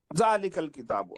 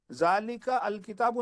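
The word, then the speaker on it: ذلك الكتاب: हो गए जालिकल किताब जालिका अल किताब नहीं है जी हां तो यह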